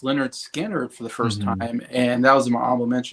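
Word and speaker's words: Lynyrd Skynyrd: Ry stuff um I also listened to um pronounced Leonard skanner for the first time and that was in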